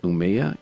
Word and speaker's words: Umeå: he's now a doctoral researcher in informatics at Umeå University. Umeå, it's pronounced, but everybody Umeå.